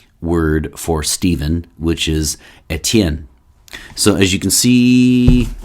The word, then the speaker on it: Etienne: by the french word for stephen which is a tien so as you can see it's here somewhere and the house is actually well the full house is actually ignore um so it's e-t-i-e-n-n-e that's steven uh in french and something along